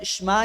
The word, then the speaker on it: Shema: hablan la lengua hebrea parece como no la pronunciara Okay Por eso allí cuando lo ve escrito allí Ahí dice shma Israel ahora no hay problema poco a poco